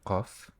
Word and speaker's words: ق: The pronunciation of this letter does not occur in English. The letter Qaf is like the English K, but it is produced deeper in the throat at the back of the tongue.